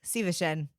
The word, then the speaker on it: Szívesen: Szívesen. Szívesen to you. Köszönöm is just like thank you. Köszönöm szépen is more formal. Mm-hmm. Well, let's be formal, Leah. Köszönöm szépen. Szívesen.